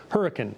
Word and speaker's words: Hurricane: And we actually have a town that is spelled hurricane 20 minutes from here, but it's pronounced hurricane in West Virginia.